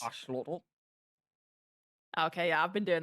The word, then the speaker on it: axolotl: It's like learning how to pronounce axolotl, the proper way to pronounce it. It's Yes. axolotl.